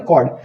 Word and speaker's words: chord: Miss pronunciation करते हैं, इसको चॉर्ड पढ़ते हैं, चॉर्ड नहीं कॉर्ड, ठीक है।